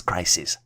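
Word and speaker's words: crises: spelled as c r i SES and is pronounced as crisis and then the last last word analysis involves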